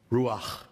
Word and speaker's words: Ruach: And am I pronouncing this right? Is it Ruach? Ruach.